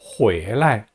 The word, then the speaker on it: 回来: 돌아옵니다는 回来, 回来라고 발음합니다. 성조 주의하세요. 발음 할 때요, 요 방향보호는요, 언제나 항상 경성으로 발음합니다. 回来하고 길게 뽑지 말고 回来라고 발음하세요.